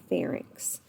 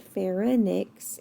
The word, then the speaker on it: pharynx: and that's called your pharynx farik's means throat and we're not going to pronounce it fair annex even though it has a why it's not pronounced like an eye and then the food